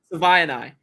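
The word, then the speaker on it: Savaiinaea: Do you know how to pronounce his last name? Savaianai.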